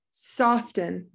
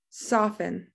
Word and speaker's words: soften: that h is silent soften soften i said that the first time i said it i said the t we don't say it soften we say soften so that t is silent often here's another silent